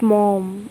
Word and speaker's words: Maugham: Yes, by the writer of this poem, William Somerset Maugham. Okay, it's pronounced like mom.